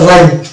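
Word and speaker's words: rhyme: যেমন হচ্ছে এটা হচ্ছে রাইম, এখানে এইচ এর উচ্চারণ আসছে না, অর্থাৎ এইচ সাইলেন্ট থাকছে।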